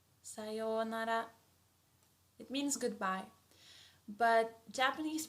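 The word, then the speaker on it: さようなら: And how we pronounce it is sayonara, sayonara, sayonara.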